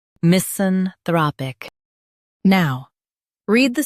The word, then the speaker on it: misanthropic: misanthropic Now, read the syllables of British pronunciation shown on the screen naturally. mis an throp ic misanthropic mis an throp ic misanthropic Emphasize thra in US, throp in UK.